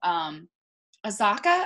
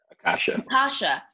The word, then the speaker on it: Akasha: If there was a movie starring Azaka, I keep on saying her name wrong. Akasha.